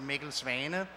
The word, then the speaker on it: Mikkel Svane: My name is Mikkel Svane. That's originally a Danish name, and Danish pronounced Mikkel Svane.